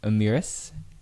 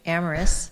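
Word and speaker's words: Amyris: And then how did you then move along to being the president of consumer at I don't know how to say it but like Amirus. Good good try. Amoris a biotech company here in the bay.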